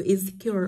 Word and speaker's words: insecure: vậy cô thấy là trọng âm thường không rơi vào nguyên âm yếu y vậy với nó sẽ rơi vào cure nó sẽ rơi vào âm tiết thứ ba của từ insecure âm tiết thứ ba